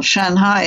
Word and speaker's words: Shanghai: And eventually they said to me, we'd love you to come, you know, and do some teaching in Shanghai, or Shanghai as they pronounce it.